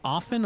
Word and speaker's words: often: but when you pronounce don't like when you pronounce the T cuz it's supposed to be silent now how technically correct